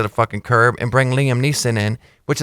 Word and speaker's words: Liam Neeson: know, Liam Neeson is not, whatever his name is. Liam Neeson.